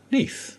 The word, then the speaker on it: Neath: it is mentioned that Neath in Welsh is pronounced simply Neath, and not otherwise.